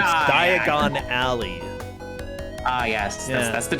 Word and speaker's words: Diagon Alley: the diagonal diagonality yeah no it's not diagonally it's diagon alley oh yes yes that's